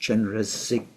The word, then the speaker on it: Chenrezig: That's the letters in Tibetan, but it's pronounced Chenrezig, as though it's got a K on the end.